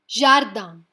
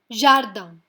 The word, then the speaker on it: jardin: Jardin. It ends in a consonant, so we are not going to pronounce the N. Jardin, which means a garden.